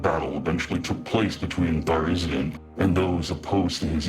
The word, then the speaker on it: Tharizdun: I want to tell you a secret, and its name is Tharizdun. TharIzdun, pronounced TharIzdun.